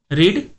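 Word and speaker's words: read: ठेवणे पुट put putting रीड वाचणे रेड रेड रीडिंग रीड ची तिन्ही फॉर्म मध्ये स्पेलिंग सेम असली तरी त्याचा उच्चार सेकंड फॉर्म आणि थर्ड फॉर्म मध्ये रेड रेड असा होतो प्रूव सिद्ध करणे प्रूड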